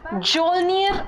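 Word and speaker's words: Mjolnir: who owns the weapon Joe near a hammer with a silent M is it a ant-man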